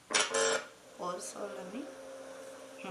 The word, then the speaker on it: O Sole Mio: O Sole Mio. That's how you pronounce it.